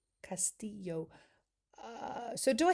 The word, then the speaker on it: Castillo: Castillo, pronounce Castillo. Oh, okay. From the Spanish word for castle, and the double L sounds like a Y, was adopted in pronouncing Filipino names. Castillo.